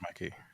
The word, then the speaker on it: Mikey: Yeah, was Mickey Madison. Mickey, not Mikey. I think it's Mikey. Let me see. I'm Google. I think it's Mikey. Yeah, I think it's Mikey. I think I pronounced it wrong.